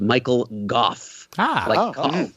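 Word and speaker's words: Michael Gough: That final scene where Alfred, by the by, Wikipedia tells us that the actor's name is pronounced Michael Goff.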